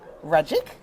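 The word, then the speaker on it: Ragic: I am joined by Rajik. Did I get that right? You did. Thank you so much for having magic. rhymes with magic.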